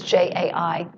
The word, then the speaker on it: Jai: pronouncing his name right, Jai Josephs, or Jay Josephs. It's one of those two. It's Jai, and it goes like this.